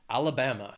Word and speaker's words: Alabama: these alphabetically is Alabama it has four syllables and the stress is on that third syllable that bam Alabama and if you're in